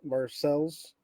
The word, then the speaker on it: Marseilles: want to say it's marsai well yes it's pronounced after the city in france but local folks like us call it marcels but it is yeah